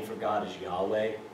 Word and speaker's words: Yahweh: The pronunciation of that is you breathing. When you inhale, you make the sound YH. And when you exhale, it's that WH.